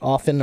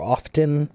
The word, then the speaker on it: often: mean is often pronounced often or often they're both okay some people say often with no T some people say often and pronounce the T they're both okay what's